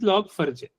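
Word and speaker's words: Log4j: 4J it is telling it is pronounced the way it is looks like is log for letter J but is log for J for Java.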